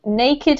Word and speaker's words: naked: one here is naked naked has two separate syllables naked naked yes well done any